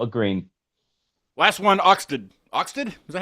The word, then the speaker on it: Oxted: Last one, Oxted. Oxted? Is that how you say it? Oxted? Oxted.